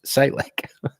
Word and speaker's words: Salek: thank you silly 67 salek sorry thanks for all you do ps my name is pronounced salic thank you camo klein